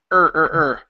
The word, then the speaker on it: her: come out her her so my lips are going to be more closed and my lips come out her her okay so it's impossible to pronounce an O if my lips are out okay and my tongue is up okay there you go